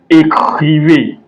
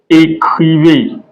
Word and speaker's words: écrivez: So whenever you see this one that goes to right, it's pronounced as A in English. So e.g., écrivez, écrivez.